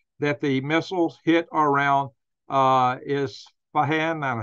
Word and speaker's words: Isfahan: It's been said that the missiles hit around Isfahan, I don't know how to pronounce that, I-S-F-A-H-A-N, no, excuse me, I-S-F-A-H-A-N, Isfahan.